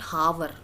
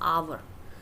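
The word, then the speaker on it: hour: अब यहाँ पे मुझे बताइए, आवर, इट्स नॉट हावर, इट्स आवर। आ का साउंड दे रहा है एंड आ इज वॉवल, तो हम क्या लगाएंगे?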